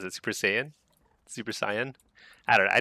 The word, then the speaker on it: Super Saiyan: How do you pronounce it? Super Saiyan.